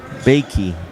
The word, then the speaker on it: Bakey: Maybe Boke or something, Sure. but I'm assuming it's not Boke. Two syllables. Bakey. B, like B-A-Y-K-E-E. Bakey.